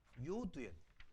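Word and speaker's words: יוד: 유두가 아니었잖아요. 요두요. 발음이 잘 미스프린팅 한 거예요. 처음부터 유두라는 말은 존재하지 않아요.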